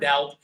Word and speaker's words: doubt: So, how do you spell the word doubt? This is exactly how you spell the word doubt. Doubt. There is a B, but it's silent.